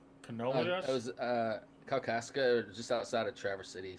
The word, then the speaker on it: Kalkaska: I'm going to pronounce the name of this Michigan town. Is it Canolia? It was Kalkaska, just outside of Traverse City.